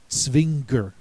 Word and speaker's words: Zwinger: Notice that the Z sounds like TS, the W sounds like the letter V, and the G makes a hard G sound. Altogether, it's Zwinger.